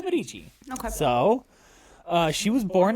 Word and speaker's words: Medici: Italy with Catherine de Medici. what a name. Yeah. Okay. It's spelled Medici. So I had to look up, is it Medici or Medici? It is Medici.